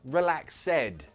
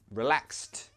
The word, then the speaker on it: relaxed: Not relaxed, no. Relaxed. Say it like that. Relaxed. Good job. So in that word, we pronounce the ed like a t sound.